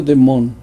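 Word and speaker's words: δαίμων: en religión un demonio el griego bayamón que se pronuncia de mont es un ser sobrenatural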